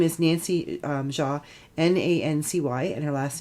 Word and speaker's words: Xia: And yesterday a young lady named Nancy, I'm going to pronounce her name wrong, but I'm going to just pronounce it Ja. It's spelled Xia.